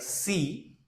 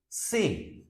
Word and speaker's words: C: will be ay like in English we pronounce it like C but in French we say say take another word like